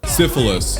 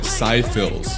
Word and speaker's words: Syphilis: Syphilis. I butchered the song's name. I called it Syphils.